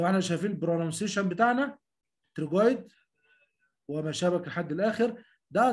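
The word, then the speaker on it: pterygoid: بلغي الحرف الاول مثلا لتر بي تي ما تنطقش بت لا ما اقولش كلمه بتروجويد يعني التهاب في الثايرويد جلاند. بتنطق يا جماعه تنطق ساوند تي تنطق تريجويد.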